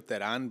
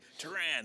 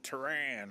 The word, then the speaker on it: Teran: uh I say Teran but you know the iterations of of it have evolved being uh yeah American yeah it's never a huge people say Duran I have to say Tehran right yeah yeah you